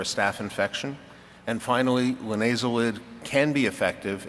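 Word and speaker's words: linezolid: A, ciprofloxacin, B, levofloxacin, C, nitrofurantoin, D, sulfamethoxazole trimethoprim, or I can never say it, linazol. Help me out, guys. Linazolid. Yeah, I have trouble with 3 syllables.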